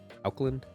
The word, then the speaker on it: Auckland: Do you pronounce that Auckland? Auckland.